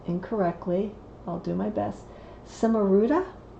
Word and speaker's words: Cimaruta: the guidebook, and it's called, I think I'm pronouncing it incorrectly, I'll do my best, Cimaruta. C-I-M-A-R-U-T-A, Cimaruta.